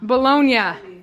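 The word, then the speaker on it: Bologna: her guests were from let me say it right bolog bolognia bolognia Italy like how we say baloney and brought her huge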